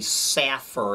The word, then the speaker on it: Safer: yorker uh explained that despite its ironic name the safer it's actually the saffer it's uh the arab